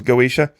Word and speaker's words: Goetia: I've heard that second word there pronounced a couple of different ways. The YouTube official is Goetia on this.